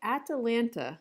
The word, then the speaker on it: Atalanta: Okay, Atalanta. Yes, that's not a spelling. That's not a typo. That's how they say it.